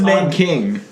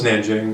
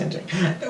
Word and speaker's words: Nanjing: I thought it was Nanking. No, it's Nanjing. It's pronounced Nanjing.